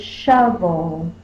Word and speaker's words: shovel: like an O, but it's still pronounced with the short vowel sound. So that's what's called a scribble O. So let's get started with our first word. The first word is shovel.